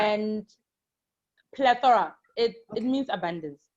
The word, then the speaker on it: Plethora: Plethora. And Plethora. It means abundance. It's PLETHORA. Okay. The R is silent.